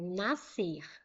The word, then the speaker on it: nascer: Por exemplo, nascer. Ó, SC. Nascer. Eu ouço um som só.